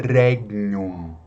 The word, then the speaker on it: regnum: Outra palavra é regnum, regnum. Eu sempre pronuncio com o G suave, tá?